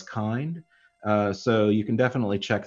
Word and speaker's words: Kind: This is spelled out Kubernetes in Docker, but you'll see it often referred to elsewhere as Kind.